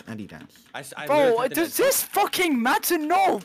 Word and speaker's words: Adidas: American pronunciation. Adidas. American pronunciation. Why are you searching? Search up how to pronounce Adidas.